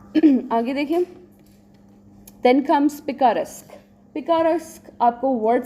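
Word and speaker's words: picaresque: How do we pronounce it? पिकारेस्क. ठीक है, पीका से पिकारेस्क.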